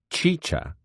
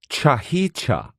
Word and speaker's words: chicha: the making of chicha which is pronounced chicha but which he pronounced cha-hicha an alcoholic beverage made